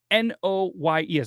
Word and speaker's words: Noyes: So it all began with a man named John Humphrey Noyes, N-O-Y-E-S.